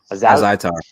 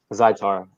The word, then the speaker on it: Azaitar: So next fight we have Kama Worthy versus, how do you pronounce this guy's last name? Ottoman Azaitar. Azaitar.